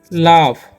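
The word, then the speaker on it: laughs: क्या लिखा हुआ है ना आगे लिखा हुआ है एल ए यू जी एस तो इसे हम पढ़ेंगे लाफ और इसे पढ़ेंगे लीड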